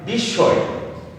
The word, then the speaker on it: বিস্ময়: তারপর দ্বিতীয় শব্দ লিখেছি উদাহরণে বিস্ময়। তো আমরা কিভাবে উচ্চারণ করব?